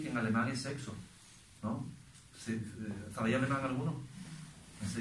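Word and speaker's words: sechs: que en alemán es sexo, ¿no? ¿Sabéis alemán alguno? Se dice Orfidense. S-E-C-H-S, y se pronuncia sex, sex.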